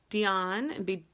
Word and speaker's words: Deaun: Deaun, now it's Deaun, it's spelled D-E-A-U-N, I might be butchering